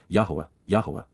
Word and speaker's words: Yahowah: to face and appear with the appearance of, Yahowah, the proper pronunciation of the name of Eloah, God as directed in his Torah, teaching regarding his Haya.